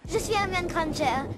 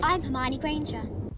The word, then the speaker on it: Hermione Granger: Je suis Hermione Granger. Et du coup, dans la version anglaise, elle dit I'm Hermione Granger.